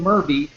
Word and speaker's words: Murby: And a gentleman who's been helping me create this, Jonathan Murby, rhymes with Derby, Jonathan is going to be going over this tonight with you.